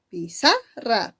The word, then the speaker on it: pizarra: La mayor fuerza está en sa. Por lo tanto, ¿qué sería pi? ¿Qué sería ra? Pi y ra serían las sílabas átonas. Y en el caso de sa sería la sílaba tónica.